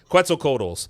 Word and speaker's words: Quetzalcoatlus: I always say that name wrong. Whatever. Quetzalcoatlus.